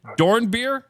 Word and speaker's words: Dornbeer: It's beer. It's beer like beverage."